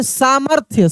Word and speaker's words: सामर्थ्य: रे की मात्रा सामर्थ्य फ का उच्चारण तेजी से हो रहा है फिर र का उच्चारण भी हो रहा है तो र का उच्चारण तेजी से हो रहा है तो य के ऊपर रेप हो गया सामर्थ्य सा म के बाद र फिर आधा थ य तो र रेफ बन गया है यहां पे ऊपर